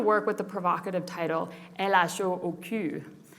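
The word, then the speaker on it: L.H.O.O.Q.: with the provocative title elasho pronouncing the letters together in french produces a sentence that is often translated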